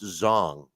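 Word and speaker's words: Zhang: fight uh Wilder Zang and I definitely think Zang will win hey Alex I know you're the English major here but I I gotta correct you is it Z zong it's pronounced zong here I am correcting somebody of how to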